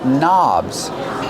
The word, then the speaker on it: knob: knobs these are called knobs the word knob has a silent k on it don't pronounce the k start start with the n Sound knob one knob two